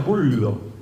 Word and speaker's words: Gullo: Y en realidad Bullo es un apellido italiano, en realidad se pronuncia en italiano Bullo.